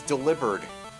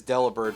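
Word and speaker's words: Delibird: Hey, it's Delivered. Most people pronounce it as deliber, but apparently it is officially delivered, which I dislike a lot.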